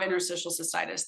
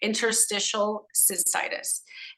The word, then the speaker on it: interstitial cystitis: but I don't have interstitial cystis that's how you say it Interstitial cystitis it is a in